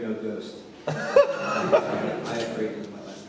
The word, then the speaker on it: Iafrate: And there's a phrase in that film that sounds kind of like my last name. Iafrate, no ghost. Iafrate is my last name.